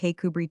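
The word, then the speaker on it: Kirkcudbright: His name and style being the honorable Kirkidbright Lenover Margerabank sellers Vikount Berkeley of Kandelli Castle Warikshire pronounced Kubri th Lenover Marshbank sellers Vikount Barkley of Chumley Castle Warikshire.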